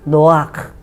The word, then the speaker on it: נח: 허락을 했지만 목에서 올라오는 기업 봐라 이렇게 너와 노아크 이렇게 발음을 하랍니다 그래서 우리말로는 그게 노아라는 거예요 노아